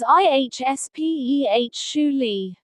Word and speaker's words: especially: Especially is pronounced as ihspeh. Specially is pronounced as speh. Notice something interesting here. Especially has an extra sound at the beginning.